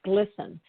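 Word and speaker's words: GLSEN: I lost my place GLS en pronounced glisten and I'll just say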